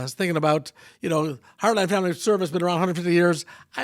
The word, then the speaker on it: Heartland Family Service: And it's Heartland Family Service, not Heartland Family Services.